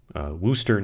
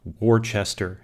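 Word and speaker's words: Worcester: corrupted by english pronunciation such that wooster now or worchester as you might read it as the spelling in the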